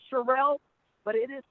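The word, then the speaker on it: Sherrell: name is sure is Cheryl it looks like Cheryl but it is pronounced Cheryl and that spelt sh e double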